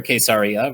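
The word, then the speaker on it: קיסריה: this new for a case Arya which is how we pronounce it in Hebrew is that this year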